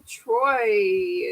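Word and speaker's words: Troi: the mirror war following troye is how you say her name it is troy look at that i'm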